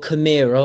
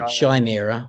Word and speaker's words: Chimera: So that's your Chimera, or should I say wrongly, Chimera, went down 10 points. Well, no, that's how you pronounce it in the Queen's English, my friend. No, that's not how you say it. No one says Chimera.